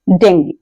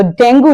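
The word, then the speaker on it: dengue: ही इ suffering from डेंगी तो डेंगू नहीं डेंगी ए एस टी एच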